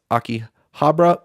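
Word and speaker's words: Akihabara: a neighborhood in Tokyo called I believe it's pronounced Aki Habra somebody can uh totally destroy me in the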